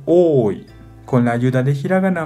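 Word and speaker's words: 多: como mucho, como dos letras de katakana como ta, ta. Y también hay una ventaja de recordar así, porque onyomi pronuncia ta, ta como de katakana. Kunyomi pronuncia oi, con la ayuda de hiragana más, oi.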